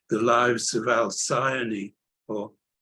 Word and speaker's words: Alcyone: called The Lives of Alcyone, or Alcyone. I prefer the Greek version, Alcyone, because it's a star name, which that's how it's generally pronounced.